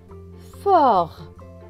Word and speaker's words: fort: Fort, le T à la fin est écrit en gris, donc il ne se prononce pas non plus.